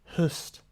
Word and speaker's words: hust: affinity for light energy hust pronounced hust like the oo in book or look god of the Harvest